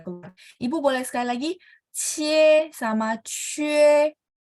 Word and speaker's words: 切: Ibu boleh ikutin saya, QIE bacanya cie. 切 Oke ya, ini nggak bulat. Jadi QIE itu biasa aja. Cie, yang penting Q bacanya CH.